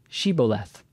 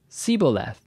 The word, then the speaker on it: Shibboleth: If he said no, then they would say to him, "Say now, Shibboleth." But he said, Siboleth, or Theboleth, for he could not pronounce it correctly.